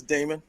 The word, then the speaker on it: Damon: Demon Jones, is that how you say it? Is that Damon or Demon? It's Damon. Damon.